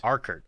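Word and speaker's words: Urquhart: Well, Mike says, our Kurt Castle is how you say it. Arkert. Okay. Arkert Castle.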